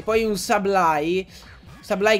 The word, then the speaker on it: Sableye: Sableye che ci ho messo tipo secoli a capire che non era Sableye, come lo pronunciavo io da piccolo, ma...